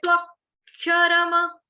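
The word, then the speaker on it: अक्षरम्: यह 'अक्षरम', यदि आपको लगता है कि आपके मुंह से निकलने वाला 'मा' आधा उच्चारित हो रहा है, तो 'मा' को पेन से दो बार रेखांकित करें ताकि आपको पता चले कि 'मा' का उच्चारण पूरी तरह से होना चाहिए; यह आपके लिए एक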